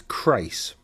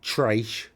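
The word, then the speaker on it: Chrace: It's Crace. The reason it's Crace is because, and not Trace. I hear some people trying to go a race, trace. It's not that, it's Crace.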